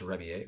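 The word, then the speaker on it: Rebillet: Um, it's pronounced Rebier the French way.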